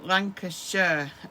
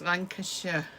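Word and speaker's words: Lancashire: Um, we we pronounce it as Sh. I'll write it on the bottom of the screen. So, Lancasher and Cheshure, Oxfordshire.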